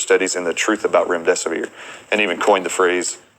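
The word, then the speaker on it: Remdesivir: and the truth about rim desier and even coined the phrase if you can't remember what the the name is just it rhymes with run death is near and that has literally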